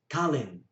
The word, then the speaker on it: kalahin: That'll be pronounced as kalin. That's a very common thing where they contract the sound from kalahin to kalin.